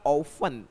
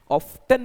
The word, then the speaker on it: often: OFTEN को आप जब पढ़े तो ये ध्यान रखिए, इसका प्रोनाउंसिएशन बनेगा ऑफन। ऑफ्टन नहीं बोलना है, आप इसे ऑफन बोलेंगे।